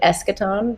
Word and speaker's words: Eschaton: it's it's it's like how you want to pronounce it it's technically eschaton but i've heard in the show i've heard